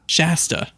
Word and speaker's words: Shasta: how do you say her name sasha shasta shasta there you go it sounds like a [